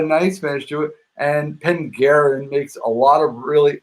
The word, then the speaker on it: Penderyn: Pengarin.